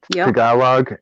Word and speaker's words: Tagalog: to learn um you know you know tagalog tagalog is that's how it's pronounced tagalog mandarin and french gotcha i was